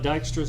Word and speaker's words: Dijkstra: okay lastly we're going to talk about Dijkstra's algorithm that's how you pronounce his name it's a it's I don't